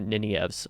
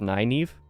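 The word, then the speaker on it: Nynaeve: the series I'm sure apparently the back of the book says her name is pronounced naive naive with an emphasis on an eye which is not at all how I thought it was pronounced like I said I thought it was nineve or something like that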